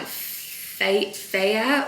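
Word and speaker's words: Fage: the zero percent the I think you pronounce the brand like fate fair or something it actually says it on the um the tub but it's spelled phage the phage zero percent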